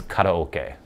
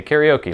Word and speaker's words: karaoke: I will pronounce it the American way, like karaoke. It's karaoke is the way it would actually be pronounced, but I say karaoke like we all do in America.